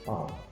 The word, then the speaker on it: lb: Jadi sini jangan bingung kalau ada LB itu bacanya pound ya.